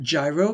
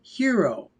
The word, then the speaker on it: gyro: A lot of people pronounce that gyro, but it is actually hero.